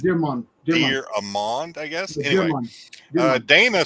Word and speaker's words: DeArmond: It's not pronounced Dieramond. No, it's the font wouldn't do it, but it's capital D, little e, capital A. So it's Dearmond.